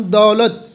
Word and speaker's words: دولت: علم۔ اس کے بعد ہم دولت، دال کے اوپر زبر ہے، دولت۔ جی امید کرتے ہیں